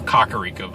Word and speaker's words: Kakariko: The first 3 map areas you get, which is the starting location, the next location, and then into Kakariko Village, or Kakariko Village is how they pronounce it, and Hiteno Village.